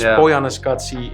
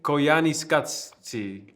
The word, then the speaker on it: Koyaanisqatsi: And it's Koyaanisqatsi, if I'm saying it What did you call me, correct.